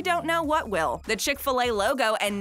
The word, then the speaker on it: Chick-fil-A: The Chick-fil-A logo and name is actually a great example of some very clever marketing. First of all, the name is a play on the American pronunciation of filet.